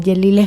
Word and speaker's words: Yelile: Instagram, mi nombre, Yelile. Sí, Yelile se escribe Y-E-L-I-L-E, así como suena.